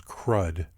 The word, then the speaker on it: CRUD: retrieve update and delete often pronounced as crud this is an example